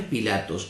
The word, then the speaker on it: Pilato: Se puede pronunciar Pilato o se puede pronunciar Pilatos. Hoy no vamos a explicar el porqué porque nos vamos de tema. Pero de las dos maneras que usted lo pronuncie está bien.